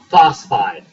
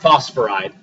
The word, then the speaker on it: phosphide: Yeah, it's just phosphide, not phosphoride.